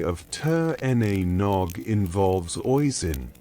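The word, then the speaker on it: Oisín: The most famous story of Tur Na Nog involves Oisen, pronounced Ashin, son of Fion Mamill, the legendary Irish hero.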